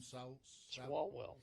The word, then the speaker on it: Swalwell: Swalwell.